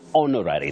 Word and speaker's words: honorary: it is an honorary that H is silent so you use the indefinite article an not a uhhuh you say an honorary degree not a honorary degree I hope I am clear on that okay so we don't see we don't pronounce the yes the the H so it's honorary not